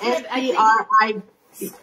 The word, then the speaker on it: Scribd: He taught me about an app called Scribd. Scribd. Scribd, is that how you say it? S-C-R-I-B-D.